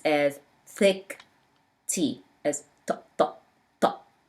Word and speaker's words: ط: Ta pronounced as a thick T, remember?